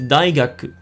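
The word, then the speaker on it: 大学: The same goes for the word university, which is daigaku. That's kind of pronounced silently at the end as well.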